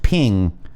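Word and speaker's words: 瓶: peace or safety because both the character for vase and that for peace are pronounced ping a vase ping with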